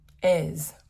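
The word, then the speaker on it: Èze: Okay, so Ez. That's how you pronounce it. Yes. Okay. So the city of Ez, and actually, we wanted to check out there's a cactus farm or museum or garden.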